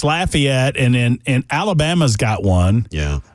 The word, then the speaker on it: Lafayette: Yeah, that's the pronunciation that is used up here, and it's obviously not the one that would be used in French areas.